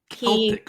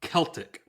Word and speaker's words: Celtic: He has Irish origins, and Celtic, hard C. This isn't the Boston. Okay, do it again. Teach me. Celtic. It's confusing because there's the Boston Celtics, the basketball team, and they pronounce their name like idiots.